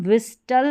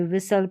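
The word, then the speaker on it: whistle: अब इसमें भी एस टी एल ई के कॉम्बिनेशन में यहां पर टी साइलेंट रहेगा। इसको हम विस्टल नहीं पढ़ेंगे। विसल पढ़ेंगे।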